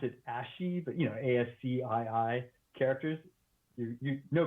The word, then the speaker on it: ASCII: Yeah, it's a roguelike, and so in the purest sense, so it is, I think you pronounce it Asci, but ASCII characters.